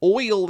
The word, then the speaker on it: Oyl: That's an example of the Y as a vowel, and so her oil would definitely, in my opinion, be one syllable.